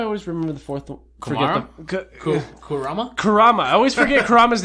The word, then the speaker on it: Kurama: Kurama Kurama has a Kurama. I almost Rose pronounced it Karima.